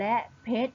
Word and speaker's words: เพชร: เลย ใช่ ไหม คะ เรา จะ ไม่ อ่าน ออก เสียง พยัญชนะ รอ เรือ นะ คะ เรา จึง อ่าน คำ เหล่า นี้ ได้ ว่า จาก ท่อ สูตร บุตร และ เพชร นั่น เอง ค่ะ ตั้ง ค่า ต่อ